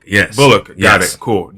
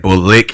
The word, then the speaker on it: Bullock: his last name bullock bullock anyone ever that up yeah this is like bull lick they do lick for some reason and i do not